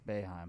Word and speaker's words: Boeheim: Boeheim.